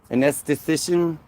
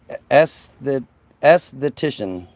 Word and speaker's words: esthetician: Anesthetician. The E word. Anesthetician. Is that right? Did I say that right? It's ESTH. Yeah, anesthetician. No, there's no N. Esthetician.